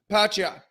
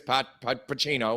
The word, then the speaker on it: Pacquiao: And Lampley failed like 4 or 5 times to pronounce his name, and then just, we'll get on with it anyways. Pacino, whatever it is. Pacquiao.